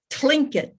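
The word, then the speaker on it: Tlingit: daughter my granddaughter said you have to go clink it to get the correct pronunciation i thought they were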